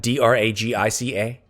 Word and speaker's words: Dragica: Dragica, D-R-A-G-I-C-A. Dragica. No, I'm going to spell those out phonetically so that I know how to say them.